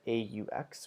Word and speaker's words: aux: Finally, with plural countries, we use AUX, which is pronounced as O, but when it comes before a vowel, you make the Z sound.